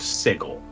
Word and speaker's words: Sigil: call me on it yes i know it's spelled the same way as the word sigil it is pronounced sigel that's also dumb yeah